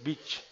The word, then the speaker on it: beach: por ejemplo atención beach la pronunciación es muy importante es bitch vale ay watch al culto